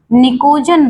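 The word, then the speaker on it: pnictogen: निकोजन word use होता है इसके लिए। निकोजन और निकोजन का जो पी होता है वो साइलेंट होता है।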